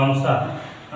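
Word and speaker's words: answer: देखिए इसमें ये एस है, देखिए एस के बाद डब्लू आ गया तो ये भी साइलेंट होगा। आंसर आयन स्वर नहीं होगा,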